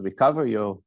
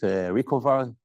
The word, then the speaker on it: RECOVAR: So I pronounce it as RECOVAR. You can pronounce it RECOVAR, however you wish.